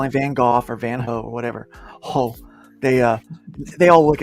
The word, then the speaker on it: Van Gogh: It's Van Gogh. Van Gogh. Okay, because the G would make a "h" sound as a Dutchman. Yeah. Okay, it's a hard G.